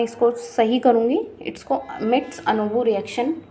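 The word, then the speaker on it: Mitsunobu: अच्छा, मैं इसको माउंट आबू बोलती थी, तो अब मैं अपने प्रोनाउंसिएशन को ठीक कर रही हूँ क्योंकि गलत बोलना अच्छा नहीं होता, तो इस वजह से हम मिट्स अनोबू रिएक्शन ही बोलेंगे।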